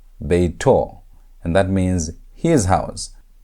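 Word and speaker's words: בֵּיתוֹ: If you want to say his house, you're going to say beito, beito, and that means his house. So that holy moal is how you say his in Hebrew. That holy moal at the end shows you're talking about his house.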